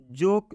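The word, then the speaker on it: joke: के बाद नियम है कि ये कंसोनेंट आना चाहिए कि कंसोनेंट है और उसके बाद से ई आना चाहिए इसलिए इस ओ का उच्चारण ओ की मात्रा से हो जाएगा मतलब ज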